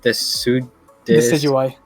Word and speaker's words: Decidueye: The pronunciation was Decidueye. Decidueye?